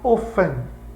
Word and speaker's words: often: Reparou a pronúncia? O-F-T, que não é often, professor, não é. Esse é um T mudo. Em inglês tem várias palavras mudas, como as palavras que tem K e N, por exemplo, know, né? Saber, know, K-N-O-W. Você não pronuncia o K. Mesma coisa com F-T, você não pronuncia o T. Tem F-T, vai direto. How often?